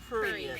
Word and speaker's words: prurient: I might not be pronouncing. I want to make sure I, I think use it's it properly. prurient. Prurient.